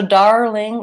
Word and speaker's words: darling: the start but and so darling is actually like early if I had to break up that word I would have my are syllable and then a light front L starting the new syllable so to learn how